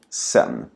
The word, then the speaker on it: sedan: Så tänk på att ordet sedan nästan alltid uttalas som sen.